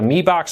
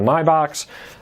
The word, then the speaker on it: Mi Box: Some people pronounce it the Me Box, some people pronounce it the My Box.